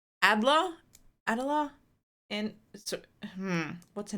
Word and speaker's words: Alder: Adler, right? Am I saying it right? Alder? Or Elder? No, it's not Elder. Alder.